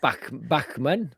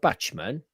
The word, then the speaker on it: Bachman: Bachman? How would you pronounce it then? Bachman. Bachman it is, not Batchman.